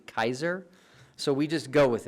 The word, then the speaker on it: Caesar: were pronounced for example we say Caesar today when it's actually Kaiser so we just go